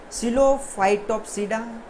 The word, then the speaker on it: Psilophytopsida: First is Psilophytopsida, P is silent, Psilotopsida, Lycopsida, Spanopsida, and last is Pteripsida, right.